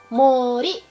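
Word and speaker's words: 森: banyak yang cantik gak jadi hutan besar dibaca Mori ini kondisinya bener-bener gampang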